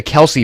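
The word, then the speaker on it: Kelce: the debate about the Kelsey Brothers right everybody pronounces it Kelsey they themselves pronounce it Kelsey but apparently correctly it's supposed to be the Kel Brothers but again it's how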